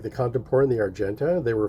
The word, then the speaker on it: Contempora: You can find it on a website called the Contemporary Corner.